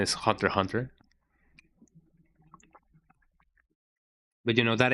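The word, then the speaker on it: Hunter × Hunter: Yeah, I am on the camp that says Hunter X Hunter because it's really funny to say it. I know that the correct the correct quote unquote pronunciation is Hunter Hunter, but you know that X feels lonely sometimes.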